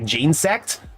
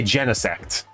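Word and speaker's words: Genesect: So, I actually say it like jeansct, but a lot of people say genct, like genesis insect or gan insect, you know.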